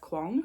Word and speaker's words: Kuang: Kuang. I'm pretty sure that's how you pronounce it, who wrote like Yellow Face and, you know, the Poppy War and all that.